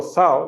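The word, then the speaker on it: ζάω: la palabra Z Okay se pronuncia digo zao no sé si así sea en otros países Pero uno dice th cuando eh la primera letra es Z para diferenciarla de nuestra s no pero allí en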